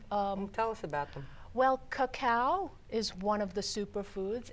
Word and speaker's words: cacao: bar, comes from this cacao. How do you spell that? C-A-C-A-O, cacao. Oh, like cocoa. C-A-C-A-O. Right. Like cocoa almost.